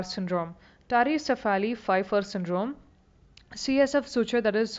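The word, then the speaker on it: Pfeiffer: a syndrome called the Fifer syndrome the p is silent just like T and tsunami p is silent it's p fi FF R syndrome tarali Fifer syndrome CSF suture that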